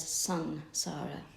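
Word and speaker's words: Saṃsāra: Samsara, S-A-N or S-E-N? It's actually S-A-M. S-A-M. It's written as S-A-M, but it's pronounced as Sansara.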